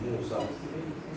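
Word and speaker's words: موسى: This is not Musa ya, it is Musa. This ya is silent, and this alif is supposed to pull the sin.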